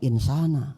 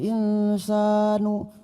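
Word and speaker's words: الإنسان: Nah, kalau imamnya santri Al-Hijrah, insya Allah bacanya insana, ya. Wah, ini bacanya laqad khalaqnal insanu. Duh, kaget saya, kok bisa nu gitu.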